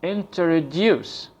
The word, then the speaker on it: introduce: out loud for example the word introduce is it pronounced with a stress at the end of the word so it sounds like this introduce times where you put